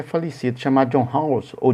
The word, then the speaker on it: Rawls: Tem um filósofo norte-americano, tem não, que ele já é falecido, chamado John Rawls, ou John Rawls, né? Alguns pronunciam John Rawls, outros pronunciam John Rawls.